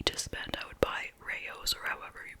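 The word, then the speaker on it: Rao's: had unlimited money to spend, I would buy Rayo's, or however you pronounce it, R-A-O-S, apostrophe S. Because that sauce is really so much better. But it's usually like $7 or $8 for the Rayo's.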